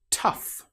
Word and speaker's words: tough: Tough. In this example, the gh sounds like the f sound.